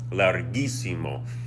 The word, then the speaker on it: larguísimo: So we're going to do that to keep the G sound.